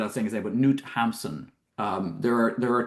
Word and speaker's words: Knut Hamsun: correct your uh He is, of course, called Knut Hamsun. Ah, yes. Knut Hamsun.